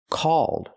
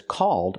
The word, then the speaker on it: called: cold is I'm cold the word is pronounced called so there's an important difference between these two words called and cold they're similar but they're different and they mean different things so we need to understand the pronunciation difference this app is called fan chat not cold but called use the a sound like ball and fall a a call this